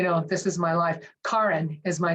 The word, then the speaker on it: Karin: this is my life Karin is my name kin not Karen it's Karin it's Norwegian it's not like an affectation it's a Norwegian name